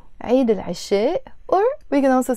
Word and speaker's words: عيد: In English you pronounce it Eid, but it's actually عيد, and it means in French fête, which is the feast.